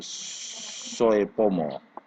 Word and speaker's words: Soepomo: kesejahteraan qmax Hai sedangkan menurut Soepomo tulisannya Soy Soepomo harga Kalau ini pakai ejaan lama UU kerjaan lamanya Oh dan Eddy Supomo Soepomo terdiri dari lima unsur